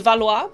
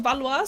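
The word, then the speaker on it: Valais: Um, the second tier, uh, I see I pronounce this as Valwa because I see like every British person pronounce it as Valwa. Some people say it's valet. I don't know.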